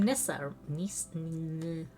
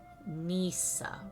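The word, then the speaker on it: Nysa: In Nissa. No, hold on. How do I pronounce that? Hold on. Pronunciation. Nisa or Nissa.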